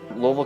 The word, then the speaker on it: Louisville: Louisville, Kentucky. And it's pronounced Louisville, not Louisville or Louisville.